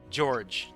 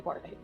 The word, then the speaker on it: Jorge: a question for me is your name pronounced automata Jorge or is it Jor cuz I remember that derp was giving me some some shade the other night for mispronouncing your name George okay uh that's actually Jorge it is Jorge I thought so I